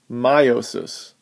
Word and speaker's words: meiosis: we'll be talking about rhymes with mitosis but is very different it's known as meiosis notice it's spelling all